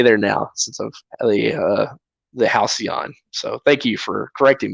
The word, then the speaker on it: Halcyon: Oh, Halcyon.